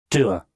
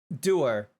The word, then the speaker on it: dour: Let me get the pronunciation. Doer. Doer.